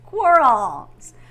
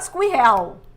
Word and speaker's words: squirrel: one of my favorites squirrel not squeel right we don't say squeel we say squirrel squirrel squirrel oh I miss my